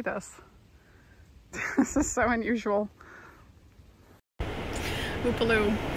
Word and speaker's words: Upolu: Upolu. Upolu.